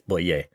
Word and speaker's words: Boyer: So, as I said, Jean-Pierre Boyer, I think the French pronunciation is Boyer. I could go in Boyer, but it's Boyer.